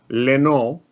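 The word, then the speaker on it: Lynott: Bob Seger wrote a song called Rosalie, and then Phil Leno, that's how it's pronounced, heard it and went, "Oh, you'll see, I have a band.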